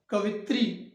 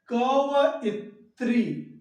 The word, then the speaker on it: कवयित्री: कवित्री लिख देते हैं, लेकिन कवित्री शुद्ध शब्द नहीं है। क्यों नहीं है? क्योंकि इसका शुद्ध शब्द है कवयित्री। क्या है शुद्ध शब्द? कवयित्री। एक बार पुनः देखेंगे, कवयित्री, कवयित्री।